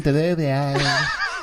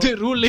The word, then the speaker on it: Derulo: I think I add an extra L-I-O. in. Jason Yeah, you- Derulo. Derulio. Jason Derulo. Derulio. That's what I say, Jason Derulo.